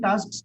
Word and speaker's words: tasks: Writing tasks come immediately after the reading task. Very good. I appreciate that you could pronounce this correctly. Many people would have missed that S after the K.